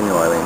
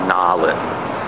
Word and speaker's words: New Orleans: So if the word has 3 syllables, like New Orleans, you don't say New Orleans, you say Nawlins.